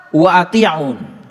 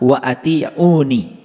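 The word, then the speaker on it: وَأَطِيعُونِ: lihat ayat ini fattaqulaha Wa atiun nah ini sebetulnya dibacanya harusnya fattaqulaha wa atiuni dibacanya harusnya begitu fattaqulaha wa atiuni bertakwalah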